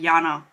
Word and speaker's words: Jana: It's not Jenna. I know usually that name is pronounced Jenna in English. But I think she pronounced it herself like Jana. And that's how you say it in Germany.